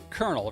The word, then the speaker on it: colonel: like, okay, so like colonel, right? Like the rank. not the little seed of something like a corn kernel, but like a kernel, like a in the army. Yeah, it doesn't sound like how it's spelled.